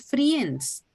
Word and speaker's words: friends: And also you said friends. Friends. I is silent in that word.